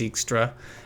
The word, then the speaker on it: Dijkstra: of fascinating you know like dijkstra although they pronounce it extra and the reason i